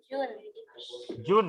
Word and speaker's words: June: Lulus dari Tadika Puri di bulan June ya, June 2022 ya. Bukan tadi kamu bilangnya Juni ya.